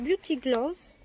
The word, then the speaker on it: Beauty Glazed: Ça se prononce Beauty Gloss.